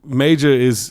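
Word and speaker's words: Majah: He goes by Major, yeah. Oh, you have to say it like that? Major? Major. Yes. Major? It's spelled M-A-J-A-H. Major.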